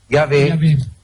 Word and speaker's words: Yahvé: Y los eruditos suelen pronunciarlo Yahvé o Jehová.